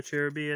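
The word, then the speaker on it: Cherubi: Cherub. Or Cheruby, I think. Yeah, that's how you pronounce it.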